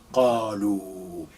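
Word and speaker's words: قالوا: It's carrying dhamma, and we have this extension, qalu. This alif, you don't pronounce it.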